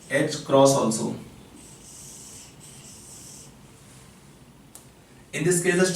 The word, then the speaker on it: h cross: It is pronounced as h cross or h bar is h upon 2 pi. H constant है, pi constant है, ratio h upon 2 pi given. You can pronounce in simple way h cross.